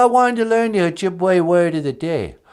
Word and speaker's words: Ojibwe: Well, E's sound like A in Ojibwe, like in the word Ojibwe.